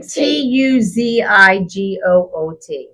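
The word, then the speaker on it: Tuzigoot: because Arizona is actually t u zi g o o t not like Tootsie Roll no here we'll look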